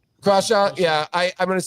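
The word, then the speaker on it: Crawshaw: So, I just think that Stone or I mean uh that Jeremy, it's Korchaw. Is that how you pronounce his last name? Crashaw. Crashaw.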